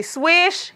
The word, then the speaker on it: Swishh: gonna make sure that I'm saying it correctly swish SW i Sh H so it has two